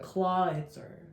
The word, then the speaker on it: Clawitzer: I I never known how to pronounce it. Clawitzer.